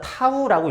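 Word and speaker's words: τ: 그래서 돌림임 타우 값은 요거 자체는, 이 문자는 그리스 문자 타우라고 읽습니다.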